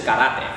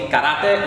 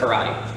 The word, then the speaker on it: karate: And the way you actually pronounce the word karate in Spanish is karate. So it has more of like an accent on the letters, so it'll be karate instead of karate.